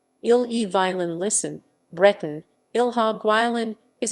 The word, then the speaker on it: Ille-et-Vilaine: the lame french pronunciation ill-e violin listen breton ilha guilin is a department of